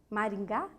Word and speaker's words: Maringá: pó guarda pó sim guarda pó uma outra sílaba uma outra palavra hum Maringá Mari Gá vamos pensar em Maringá uma cidade